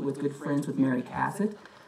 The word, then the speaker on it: Cassatt: Webb's mother, Louisine, was good friends with Mary Cassatt. That's how the family wants you to pronounce the name. It's not Cassatt. They don't want you to Frenchify it, in their words.